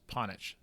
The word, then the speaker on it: Panic: Tim Ponich. His name is spelled Panic, but it's pronounced Ponich.